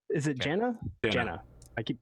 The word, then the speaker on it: Jana: The Jana? J-A-N-A, Jana. Yeah. Like Janet, but with an A. Proudmore. Yeah. Not Jana. Yeah. I suppose you can pronounce it either way, however you wish.